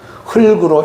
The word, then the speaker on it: 흙으로: 예를 들면 흙더미 할 때는 흙더미라고 하지 않잖아요. 흙더미라고 그렇게 발음해야 되고, 오늘처럼 흙으로, 흙이 이럴 때는 뒤에 이나 또 흙으로, 으로 이렇게 붙으면은 그것은 흙으로 이렇게 발음을 해야 된다는 것입니다.